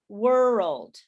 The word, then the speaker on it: world: say that uh if the way that you can do this is to divide it into two syllables so it sounds like world world world so now you have the problem with the ld not the rld okay so world world